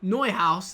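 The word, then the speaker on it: Neuhaus: is going to be neu house that i have now discovered is how i pronounce his name i've got it wrong the whole video he is very very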